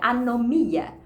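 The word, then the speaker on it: ἀνομία: No grego você pronuncia anomia.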